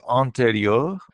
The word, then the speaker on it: antérieur: First of all, if we break it down into syllables, an, en. Mhm. Then we have te, which is t, and then Mhm. ri is its own little syllable, ri, Mhm. ri. Then next we Yeah. have the eure. That's the next syllable. Uh-huh. So the combination eur, because the e at the end is silent, the Uh-huh. combination eur, it gives us this open sound, er, Uh, er, er.